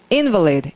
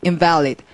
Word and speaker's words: invalid: invalid, invalid. 다른 말 같죠. 강세 때문에 소리가 확 달라지죠. 그래서 invalid라 그러면 아 사람 얘기하는구나. invalid 하면 뭐가 무효구나.